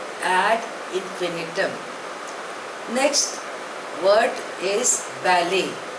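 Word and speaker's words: ballet: इंफिनिटम next word is बैले spelling is बी ए एल एल ई टी बट the pronunciation is बैले इट इज अ French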